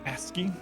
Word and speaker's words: ASCII: Supposed to be pronounced ASCII.